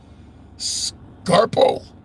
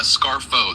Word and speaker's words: Scarfo: It's Scarfo. The PH makes an F.